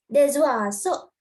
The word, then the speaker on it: des oiseaux: You must not pronounce it. I'm talking about here. Les arbres. And here, S-O. Des oiseaux.